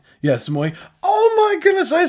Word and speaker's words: Moy: Like yes, Moy.